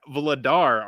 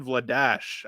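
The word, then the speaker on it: Vladař: Dan Vladar, or Dan Vladash, I believe is the actual proper way of pronouncing it.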